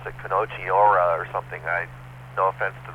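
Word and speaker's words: こんにちは: It's pronounced Konnichiwa, WB6WYS.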